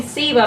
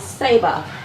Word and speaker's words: Saber: So Pam posted a video in our little Facebook group of, I keep saying Seba, but I believe I'm saying it incorrectly. It is Saber. Saber. I'm saying it wrong all this time.